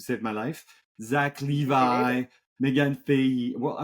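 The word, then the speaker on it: Zachary Levi: Zach Your Levi, neighbor. Megan Fahey. Well, I would say Levy.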